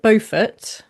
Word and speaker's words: Beaufort: Bowford or is it Buford or how do you pronounce it? Good question. I would say Margaret Buffett. Okay. But I mean it is kind of pretending to be a bit French.